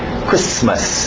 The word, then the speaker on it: Christmas: Alright, do outro lado, Christmas, o T é mudo, Christmas, não tem medo dos S's, Christmas.